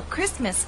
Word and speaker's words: Christmas: days away you know Christmas is one of those words in English that is written with a t but we don't pronounce it now many viewers have